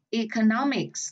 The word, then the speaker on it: economics: Economics là âm ba. Đừng có lộn với economy là âm hai nhá.